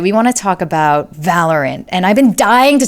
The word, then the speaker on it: Valorant: But what is Valorant, right? For those of you who aren't really familiar and this game has been getting more popular, first of all, it's pronounced Valorant, not Valorant.